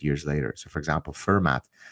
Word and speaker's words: Fermat: later so for example fermat the mathematician and French you say uh that's how you pronounce his name f-e-r-m-a-t uh was a number